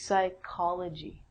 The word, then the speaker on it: psychology: And actually we say this like a K. So this is psychology with a silent P.